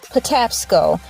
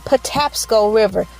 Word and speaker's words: Patapsco: I simply typed in how do you basically pronounce it Patapsco p. T.L W Patapsco Patapsco River Patapsco River Patapsco River P tap skull River